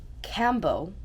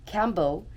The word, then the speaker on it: Kambo: you about the Cambo experience that I had Cambo which is spelled k a m b o is a